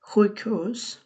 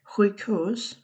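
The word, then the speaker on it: sjukhus: হুইকহোস, হুইকহোস, হুইকহোস, hospital. এখানে এস যে যখন থাকে এটা উচ্চারণ অনেকটা আমরা যখন খ উচ্চারণ করি হুইক, হুইক হোস, সো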